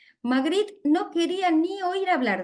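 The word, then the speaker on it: Magritte: de magd Harry torner se pronunciar magri no quería ni oír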